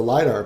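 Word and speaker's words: lidR: And so the first package is the Lidar package, and that's spelled L-I-D capital R.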